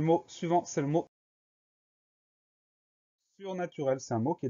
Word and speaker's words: surnaturel: Souvent, quand on a la terminaison EL à la fin d'un mot, on va prononcer le E est. Donc surnaturel, S-U-R-N-A-T-U-R-E-L.